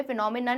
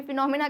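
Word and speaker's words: phenomena: एक ही करते हैं इसे pinomin नान मत कहना कभी इसे फिनोफेना मत कहना इसे भी फिनोमिना कहते हैं इसे भी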